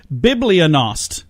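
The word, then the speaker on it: bibliognost: eloquent word of the day and today is Biblia nost what do you think Biblia nost means really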